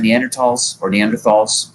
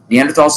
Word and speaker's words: Neanderthals: On the basis of the evidence in this chapter, an intriguing possibility is that Neanderthals, both pronunciations are considered accurate, Neanderthals' ability to learn socially and to cooperate was limited by their reacting to tension too quickly with aggression.